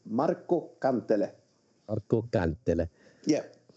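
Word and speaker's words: Kantele: And to say it with a little Finnish pronunciation, it's Marco Cantele.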